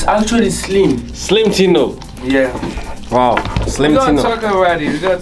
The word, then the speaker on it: Slimetino: How do you pronounce it? Slimetino? It's actually Slim. Slimetino.